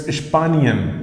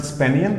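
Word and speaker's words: Spanien: have a look at the pronunciation sp is pronounced as ship s-c-h-n-p so it's ispanian not spaniel it's pispanian okay spaniard means spain and spanish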